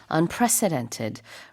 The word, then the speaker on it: unprecedented: EX 전례가 없다는 뜻이고요 발음할 때는 가운데 있는 C 약간 강하게 발음을 해 주셔야 돼요 안 그러면은 대통령 president처럼 들리니까 이렇게 president처럼 발음하지 마시고 president 좀 쓱 조금 발음이 강하게 발음하시면 됩니다 unprecedented rate 전래 없는 속도